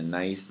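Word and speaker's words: gneiss: line up in a nice neat pattern types of metamorphic rocks right and this is an example of a rock called nice like pronounced just like you're a nice guy and here the greens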